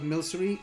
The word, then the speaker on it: Milcery: But then I realized that it's milk sorcery or something, so I just decided to call it Milcery. Well, decided. I mean, I figured out that it's the proper pronunciation of this Pokemon.